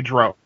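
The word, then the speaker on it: drow: d some will say Dro true yeah that's the bigger one you know Gary yeah Gary gak had to come out in a dragon magazine article and say it's Dr rhymes with cow he had to actually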